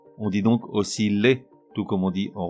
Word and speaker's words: osciller: Là aussi, il doit se prononcer comme dans ville et non comme dans piller. On dit donc osciller, tout comme on dit